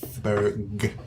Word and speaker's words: Townsburg: you really call it Townsburg? And I'm like, yeah. And how can you deny the bear? It's true. He's such a cute bear. It's true. Berg. There's a hard G at the end.